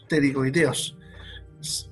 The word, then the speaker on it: pterigoideos: Esos dos músculos son los músculos pterigoideos. Ya se escriben con una P muda por delante. Así como psicología, en este son pterigoideos, pero con P adelante.